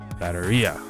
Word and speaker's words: batteria: Batteria has pronunciation emphasis on the I. Oh wait, did I just say it wrong? Oh yeah, I'm stupid. Batteria.